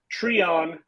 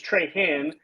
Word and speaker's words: Treon: My last name, for everybody, I guess, is pronounced Treon, rhymes with Freon, but I have heard it so many different and very interesting ways. I've heard it Treon. The weirdest one is Trehan. Somehow there's an H in there.